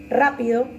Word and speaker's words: rápido: Rápido, sí, en este caso rápido lleva una tilde en la letra A. Según el acento es una palabra esdrújula, porque lleva el acento en la penúltima sílaba, ¿sí?